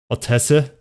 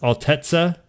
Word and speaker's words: Altezza: bro i hear you all tessa it's pronounced altezza altetsu i did come here